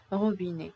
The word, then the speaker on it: robinet: We don't say bouquet, we don't say robinet, we say bouquet, robinet. Pourquoi? Parce que le E-T en français, il est prononcé E. Why? Because the E-T at the end, it is pronounced E.